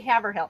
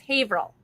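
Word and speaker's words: Haverhill: I always want to say Havill. It's Haveril. And then he's a postmaster somewhere close by there.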